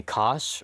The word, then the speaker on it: Kosh: Please call me Kosh, rhymes with Josh.